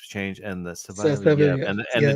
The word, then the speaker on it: Sawielijew: It's Sawielijew.